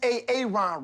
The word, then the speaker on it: Aaron: you say it the first time i said a-a-ron because it's pronounced aaron you done messed up hey ron